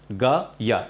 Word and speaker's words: ज्ञ: हम बात करें तो इसका उच्चारण कुछ अलग तरीके से होता था इसका उच्चारण होता था आधा जे जहाज वाला और या लेकिन आजकल इसका उच्चारण होता है आधा जी और या जी या इसलिए ज्ञानी की स्पेलिंग